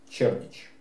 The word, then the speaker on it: Кердик: Англосаксонская хроника в качестве третьей дружины указывает саксов под предводительством Кердика. Английская Википедия говорит, что правильнее произносить Чердич.